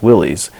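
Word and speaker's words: Willys: is it doesn't phonetically people don't say that word as Willis it's Willy's and since that's what everyone called the company the company just began calling themselves Willy's so even in their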